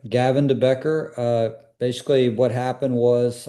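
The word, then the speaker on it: Gavin de Becker: So then then you move on to is it a company called Gavin Debecker if I pronounced that correctly? Yeah that's correct. Gavin Debecker.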